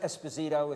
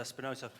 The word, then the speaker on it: Esposito: as I see fit it's pronounced Esposito if you want I'm just so you get the name right there's a question here